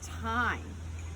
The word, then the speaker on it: thyme: The herb of the week is thyme, and ironically, thyme this week is spelled T-H-Y-M-E, and here's my English reading. Thyme is a homonym, a word that sounds the same and spelled differently.